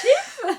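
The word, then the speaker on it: Scheepjes: Quelqu'un peut me dire comment ça se prononce? Chips. Voilà. Chips. Bah oui, chips.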